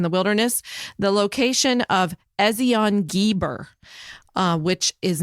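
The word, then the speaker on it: Ezion-Geber: You did good on the other pronunciation. Ezion Geber. Ezion Geber.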